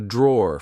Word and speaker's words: drawer: Like I said, be careful because in British English, we don't pronounce the e at the end. We just say draw.